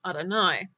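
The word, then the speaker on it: אדני: a you good like any other name it's pronounced Adonai now to wrap up I'm going to show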